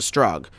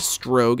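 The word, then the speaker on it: Strogg: planet of the Strog, which is pronounced both Strog and Strogue at various points by various characters in the game here, so I'm not going to be picky about how to pronounce it during this video.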